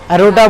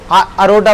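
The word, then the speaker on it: aorta: एरोटा, arteries, एरोटा बोलो। हाँ, एरोटा, एओटा, एओआरटी है। अरोटा बोलो, अरोटा भी सही है, ठीक है।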